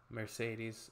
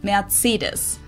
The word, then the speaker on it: Mercedes: so call this Mercedes in Derman we pronounce it matus so Mercedes versus mates meres mates so it's really pretty different and the full name